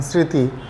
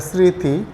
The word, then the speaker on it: স্মৃতি: একটু স্বতন্ত্র আসে যেমন ম ফালা যদি শব্দের প্রথমে আসে যেমন ধরেন স্মৃতি তাইলে একটু খেয়াল করে স্মৃতি আমরা কিন্তু ম ফলার উচ্চারণই করলাম না এভাবে বলা চলে যে ম ফালা শব্দের প্রথমে বসলে সেটার উচ্চারণ হয় না কিন্তু মাঝখানে বা শেষে